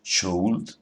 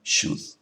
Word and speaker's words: should: en su nombre, pero esa L no se pronuncia. No decimos would, decimos would, no decimos should, decimos should.